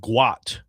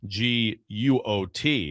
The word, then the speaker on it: Guot: Uh it's it's actually originally named Guot, g u o t. It was misspelled as Gout, okay? So this was this is meant to be. Yeah, so so actually they want the pronunciation to be uh to be Guot.